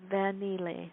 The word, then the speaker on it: Vangile: It's Vangile. So the G is silent, and it's pronounced like you say singing. Vangile. Vanille.